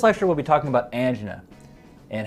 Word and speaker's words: angina: So let's discuss different types of angina. First, I want to clarify the pronunciation. It is pronounced angina, not angina.